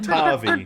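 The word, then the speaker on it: Rikki-Tikki-Tavi: that's how I always, whenever we was a kids, that's how it was always pronounced when it was read to me, okay? Ricky Tikki Tarvey. Turvy. Like Tavi, not Tavi.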